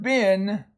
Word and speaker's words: been: And so this is an irregular, what we call an irregular word.